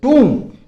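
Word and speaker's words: tomb: उसको क्या बोलते हैं टूम, इसमें बी साइलेंट रहता है, आपको सिर्फ बोलना होगा टूम, टूम नहीं बोलना, टूम बोलना है।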